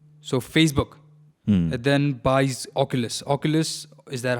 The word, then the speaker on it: Oculus: Oculus, is that how it's pronounced? Oculus, yeah.